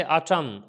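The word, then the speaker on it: autumn: इसी तरीके से अटम, अटम के अंदर एन साइलेंट हो गया है।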